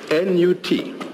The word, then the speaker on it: Nut: N-U-T. Pronounced Nut.